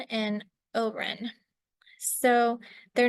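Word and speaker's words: Haut-Rhin: ALU um and I probably won't get the pronunciation correct but it's barin and Oren so they're not exactly equivalent to the concept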